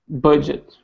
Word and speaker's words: budget: Careful because it's not a J. It's J. Can you hear the difference here? If it was a J. Not even a J. We don't have the sound in English actually. It's not very common. So it's a d together.